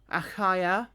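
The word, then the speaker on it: Achaia: to cross to AAA no aaya because it's spelled a c h a i a aaya I think that's how it's spel supposed to be pronounced the Brethren wrote exalting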